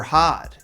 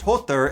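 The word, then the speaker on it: Höðr: Baldr, and she answers his blind brother Hod, whose name is actually pronounced Hothr if you're not butchering it like the American pig that I am.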